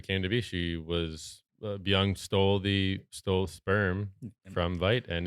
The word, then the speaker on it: Byung: Is that how you pronounce her? Byung, yeah. Byung.